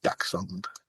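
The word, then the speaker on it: dachshund: It's pronounced daxund badger hound.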